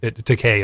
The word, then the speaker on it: Takei: it up, Because George, is it George Takei or George Takai? George Either way. Takei. Takei is how you say it. It's Takei.